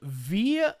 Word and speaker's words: Viy: It's a Russian film called V, I think is how you pronounce it. It's VIY.